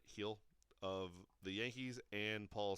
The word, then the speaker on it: Gil: Awards went to Luis Gil of or Hill I guess not Gil but heel of the Yankees and